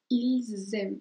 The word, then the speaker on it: ils aiment: Entonces ahí también haces la liaison que es ils aiment. Entonces pronuncias así. Z.